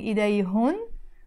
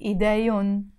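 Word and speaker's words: إيدهن: And idayun, we are not pronouncing idayhun, we are just pronouncing idayun, their hands.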